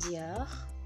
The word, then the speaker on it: Dior: Dan ini Christian Dior, Christian Dior, bukan Dior, no, Dior, Dior.